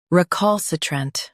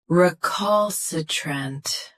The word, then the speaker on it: recalcitrant: Recalcitrant. Both US and UK have the same pronunciation of this word. Stress call. Keep s soft and trunt crisp. Recalcitrant. Recalcitrant. Stress call. Keep s soft and trunt crisp.